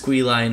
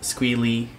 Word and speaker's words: Squeelye: but it's just Squeelye now, not Squeelie, how other people pronounce it whenever I use it as a gamer tag.